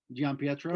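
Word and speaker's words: Gianpietro: versus gabe gian uh gian pietro gian pietro yeah that said a couple times right yeah that extra syllable in there at the end kind of throws me so i had to sound it out but save that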